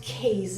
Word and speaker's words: keys: Many people pronounce it keys, and it's not correct, so it's key or keys.